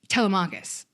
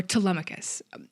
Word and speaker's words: Telemachus: But we are seeing Telemachus, or Telemachus, potato, potato. I will pronounce it both ways.